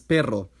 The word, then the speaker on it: perro: R is a tap when single and a trill when doubled, here pero versus perro.